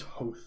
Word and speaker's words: Hoeth: master of i believe lot of people like to pronounce hoeth i believe it's host though anyways uh he is